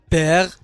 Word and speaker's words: perd: إذن l'arbre perd دال هنا لا تنطق.